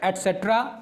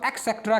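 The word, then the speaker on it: et cetera: और उसके बाद आपको ऑब्जेक्ट लगाना है और फिर एटसेट्रा। ये एटसेट्रा होता है, लोग इसको एक्सेट्रा कह देते हैं। That's a wrong pronunciation not pronunciation. तो ये गलत कहते हैं, ये है एटसेट्रा।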